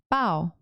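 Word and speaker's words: bao: Oh, is it that is that how you spell it? B A O. Yeah. Oh, say it again. Bow.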